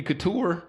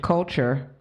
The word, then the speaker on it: Kulture: Except for baby couture. Spelled with a K. Culture. Is it culture? It's culture. Oh, okay. Are you for real? Something like- Yeah. that's right. Culture, not couture.